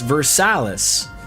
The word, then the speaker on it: Versailles: They have Versailus, Vers Versilus, Ohio, which correctly pronounced should sound like Versailles, but in Ohio it's Versalis.